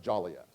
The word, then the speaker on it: Joliet: the lady that referenced joliet earlier it's actually pronounced jolly yet it's jellia so it's